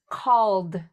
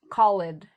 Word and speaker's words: called: So we have loved, called, cried, lived, moved, closed, opened, smiled, played. So notice I'm not saying love, callid, I cried, I live.